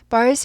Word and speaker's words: birds: Birds were singing outside. Birds. 새들이죠. Birds 하지 않아요. 튀지 않아요. 발음이요. Birds 하지 않고 birds. R이 있으니까 꼬부리죠. Birds. 드는요. 이 모양은 해주는데 발음이 튀지 않는다 라고 생각하세요.